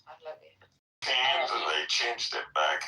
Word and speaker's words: Pahlavi: It's Pahlavi.